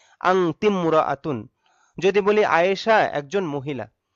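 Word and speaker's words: أنتِ امرأةٌ: আংতিমরাআতুন। আংতি ইমরাআতুন হয় স্বাভাবিক নিয়মে, কিন্তু এখানে আলিফটা উচ্চারণে আসবে না, যার কারণে উচ্চারণ হবে আংতিমরাআতুন।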